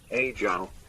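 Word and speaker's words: 阿胶: If it's the Mandarin one, Brian scuffs it a little bit, but it's pronounced roughly, Ajang.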